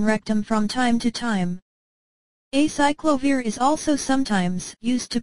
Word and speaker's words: acyclovir: Pronounced as acyclovir.